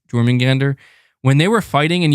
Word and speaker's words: Jormungandr: Jormungandr. That's it, right? Am I saying it right? Jormungandr.